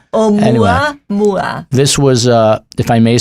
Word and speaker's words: Oumuamua: Oumuamua. Oumuamua. Oumuamua.